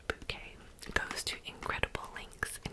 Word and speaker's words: Bucket: Hyacinth Bucket, pronounced bouquet, goes to incredible lengths in her quest for perfection.